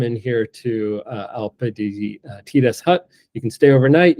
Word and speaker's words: Tires: I go with the Italian pronunciation. So it's called Tires, which is easy for me to remember because it's spelled Tires, like tires.